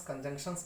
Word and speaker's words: conjunctions: याद रखना, इसका प्रोनाउंसिएशन conjunctions होता है, conjunctions. क्लियर?